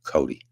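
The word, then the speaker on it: Coday: Oil and gas workers of America and his name is Matt Cody. Uh, it's spelled C O D A Y and it's pronounced Cody.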